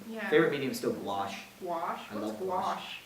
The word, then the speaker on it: gouache: Yeah, it does sound a bit like squash. Actually, it sounds exactly like squash, except it's spelled with a CH instead of an SH at the end.